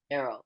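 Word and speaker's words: Aero: bar or Arrow bar Arrow yeah not AR yeah AE r o yeah so back on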